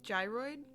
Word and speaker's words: gyroid: Gyroid with a soft G.